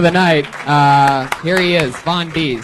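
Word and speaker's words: Von'Deeze: Von Deezy.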